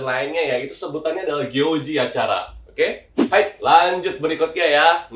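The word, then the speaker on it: 行事: Cara bacanya itu adalah gyoji ya.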